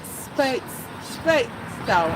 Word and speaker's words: Speightstown: According to place names of Barbados, Spite would have rhythm with 8 and pronounced spate, but the very strong Scottish brogue induced later Barbadians to pronounce it Speightstown as it is today.